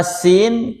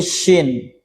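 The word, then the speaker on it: سين: Nah, di sini ada beberapa kesalahan dalam mengucapkan huruf sin. Nah, antara sin ketukar menjadi syin harusnya sin jadi syin.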